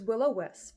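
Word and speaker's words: will-o'-wisp: book for a while I said the name wrong it's willow wisp it has to be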